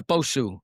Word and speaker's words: Bosu: Is it Bosu or Yeah, Bosu.